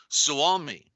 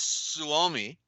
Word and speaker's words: Suomi: Finland, you know, but she calls it Suomi, and that's about the best way I could pronounce it.